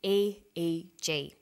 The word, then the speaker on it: EEG: We don't pronounce it EEG, we say EEG.